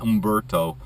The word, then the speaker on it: Umberto: become a tropical storm maybe Umberto the H storm that's how you pronounce it Umberto this week and that